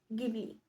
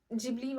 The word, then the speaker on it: Ghibli: आहे ज्याच नाव आहे गिबली sorry गिबली जिबली हे कन्फुजन आहे चला तर बघूया काय आहे हे नक्की प्रकरण तर जिबली हे त्याच ओरिजनल प्रोनन्सिएशन आहे जापनीज मध्ये त्याला जिपुरी म्हणतात आता जापनीज मध्ये का